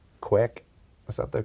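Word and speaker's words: kveik: pronounce it is uh quake yeah okay because this is how the norwegians pronounce it and it's certainly from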